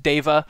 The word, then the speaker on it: Deva: as a side note, I'm pretty sure it's pronounced Deva because it is, I believe, a Sanskrit loan word that was stolen for D&D, but if you are